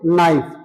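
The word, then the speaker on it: knife: के को नहीं बोलना है। एन एन आई एफ ई इसको बोलेंगे नाइफ।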